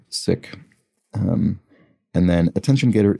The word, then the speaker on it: Sikh: this looks like six i was corrected recently that it's not pronounced sikh but rather sick um and then attention